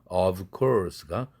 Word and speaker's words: of course: 일상 회화에서는 of course 이것도 물론이라는 뜻인데 v가 course 할 때 크 사운드 무성음의 영향을 받아서 v가 아퍼지 컨소넌트인 무성음 f로 바뀐다. 그래서 of course가 of course 이렇게 발음한다.